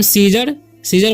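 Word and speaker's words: scissors: और यहाँ पर लिखा हुआ है सीजर्स, सीजर्स मतलब होता है कैंची, यहाँ पर भी सी साइलेंट है।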